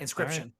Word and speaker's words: Inscryption: Inscryption. Inscryption spelled like inscription, like a scribe would do, but with a Y in the middle instead, so that the middle of the word says crypt.